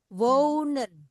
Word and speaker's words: wonen: Wonen. Wonen. Wonen. Perhatikan wonen. Dia dibacanya panjang karena tadi diceritakan saya penggal aja di sini nanti saya ceritakan ya.